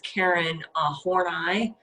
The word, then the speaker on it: Horney: One of them is Karen Horney, which I appreciate that proper pronunciation.